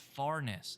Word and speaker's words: Farness: the best for last susan says it's farness that's how you say his name not fair enough yeah there's no i i was saying fairness right and you were